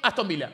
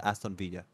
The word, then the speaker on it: Aston Villa: ese pronuncia Aston Villa se pronuncia Aston Villa se produce Ashton Villa Ashton Villa tiene que